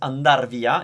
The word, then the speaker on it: andare via: Andare via, often pronounced andar via, if you need to use the infinitive, andar via, it's always used with something else afterwards.